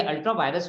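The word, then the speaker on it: ultra vires: इसको वायरस नहीं बोलते, VIRES। कितना बार बच्चे वायरस प्रोनाउंसिएशन करते हैं, वायरस नहीं होता बेटा, ये अल्ट्रा वायरस होता है। डब्ल्यू बोलते हैं, वी को डब्ल्यू बोलते हैं, अल्ट्रा वायरस, ठीक है।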